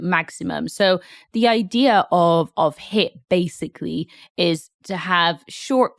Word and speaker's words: HIIT: So when we spell it, although it's pronounced HIIT, the spelling is actually HIIT with two I's instead of one.